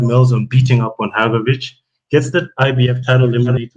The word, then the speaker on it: Hrgović: Yeah, Hrgović.